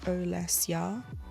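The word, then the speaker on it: Olesya: It's a Russian name. So she said it's pronounced kind of like o less ya with the dingy on the less part.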